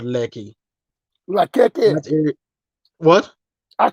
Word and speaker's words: Lekki: There's a popular area in Lagos called Lekki. Lakeke. That area, what? I call it Lakeke. I know you're talking about. No, not Makeke. He's Lekki, No, just no, Lekki.